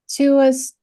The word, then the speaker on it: tuus: Tuus, is it Tuus Marcus Filius Improbus est? Yes. Tuus? So, Yep. Yes, the tuus, all letters are pronounced in Latin, unlike English, where all bets are off.